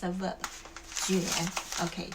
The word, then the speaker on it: 卷: One is 卷 4th tone. Second is 卷 the 3rd tone.